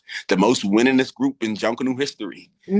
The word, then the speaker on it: Junkanoo: Um it's called Junkanoo. Spell it.